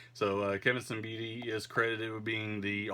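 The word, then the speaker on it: Siembieda: I was growing up, I called him Kevin Siata, but I've now learned uh thanks to YouTube that that is the incorrect pronunciation of the man's name. So, uh Kevin Sbidi is credited with being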